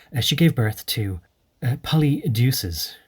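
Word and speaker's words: Polydeuces: gave birth to uh polly deuces or poly deuces but poly deuces is a nice way of pronouncing it i think because what is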